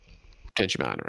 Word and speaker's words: potentiometer: Potentiometer.